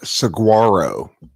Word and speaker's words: saguaro: kitty kitty meow meow meows the cactus is pronounced saguaro the saguaro cactus the saguaro cactuses live in arizona area